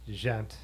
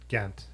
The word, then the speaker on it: Ghent: So David said it's definitely pronounced Gent. Ghent, yeah. But, yeah. If you lived in the town in Britain, it would definitely be pronounced Ghent.